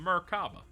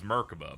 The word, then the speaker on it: Merkaba: transferred over from the Merkaba. I thought it was Merkoba, but they're calling it Merkaba and I believe you'll beat it in this one.